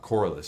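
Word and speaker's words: Corliss: a good punter but he went down uh coralus that's how you say it corus Waltman has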